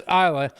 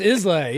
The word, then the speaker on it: Islay: here in the South it's islay is l y is he laying down yes he he is laying down so IA but I'm messing with you Isa is the critic pronunciation but uh but you know a good Southern boy would call it islay so um space side